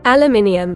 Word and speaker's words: aluminium: Cuz it's a rare example of a word that's both spelled differently and pronounced differently. Aluminum, aluminium.